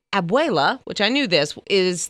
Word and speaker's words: abuela: And I talked to my daughter yesterday because I wanted to get the correct pronunciation. So hopefully I got it right. But anyway, she said, abuela, which I knew this, is the term for grandmother, right?